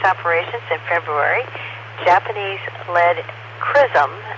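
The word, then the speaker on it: XRISM: after starting science operations in February Japanese Leed crism spelled x r i s m but they say it's pronounced Chism uh X-ray and this stands for x-ray Imaging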